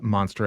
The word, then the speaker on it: Monstre: horror audience found uh monster and i should say like as as people hear that like this is so this is the french pronunciation you know of of that word um uh and that's